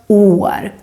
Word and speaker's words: år: In general, if the vowel, in this case the å, is followed by just one consonant, then the å becomes long. Like you can see, for example, in the word år, our word for year. And here the å is long because the å is just followed by one consonant, the r. That's why it becomes år, long å.